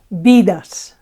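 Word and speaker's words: vidas: of a cat um the accent is still on this penultimate a syllable okay it doesn't change place it's still bidas no okay another example uh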